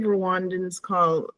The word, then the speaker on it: Rwanda: A small little African country, it's spelled Rwanda, but the native Rwandans it's pronounced Rwanda.